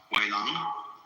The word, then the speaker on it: Huineng: But this is simply the Cantonese way of pronouncing the same characters, and this is the Mandarin way. In Mandarin, Huineng becomes Wei Lang.